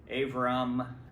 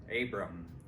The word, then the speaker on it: Abram: that the the the the letter b sounds more like a V or somewhere in between a b and a b sometimes um avram with probably how it